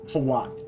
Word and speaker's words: Hawat: That is what Thufir Hawat is definitely Hawat.